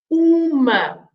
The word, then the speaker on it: uma: And that is the masculine form, because for the feminine we add an A, and then because we add an A, we pronounce the M, right? So we pronounce uma.